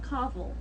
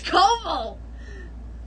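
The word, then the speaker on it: Coville: to pronounce his name it's not kaval it's kobol it's koval well the thing is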